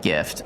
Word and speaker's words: gif: I hate to say it's not pronounced gif like jiffy peanut butter. It's pronounced gif like gift.